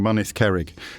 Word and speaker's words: Mynydd Cerrig: begin with me almost certainly mispronouncing Mynydd Cerrig. No, that's spot on, actually. Get in. That is. You've pronounced that better than a lot of Welsh people would do, yeah.